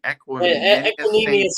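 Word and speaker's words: Equanimeous: Equinemius Brown.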